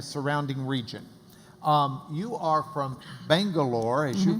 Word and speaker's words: Bangalore: So Bengaluru has 4 syllables, whereas Bangalore can be said actually in 2 syllables, Bangalore, like that.